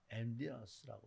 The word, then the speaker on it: emptiness: 그래서 공허, 이 영어로 emptiness라고 그러는데 이 영어 발음엔 T자를 잘 안 쓰니까 emptiness라고 이렇게 얘기를 하죠.